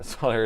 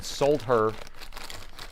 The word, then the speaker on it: solder: Uh, solder is pronounced differently based on the region of the United States. That's right. Solder is a silent L and then sold her. Solder is a different way of pronouncing it.